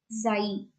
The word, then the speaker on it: xi: Alpha, beta, delta, epsilon, gamma, and this last letter is pronounced as xi.